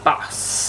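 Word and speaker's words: Bawse: Smashbox Always On Liquid Lipstick in the shade Boss. And it's this one here. It's not Boss like B-O-S-S. It is spelled B-A-W-S-E, like boss.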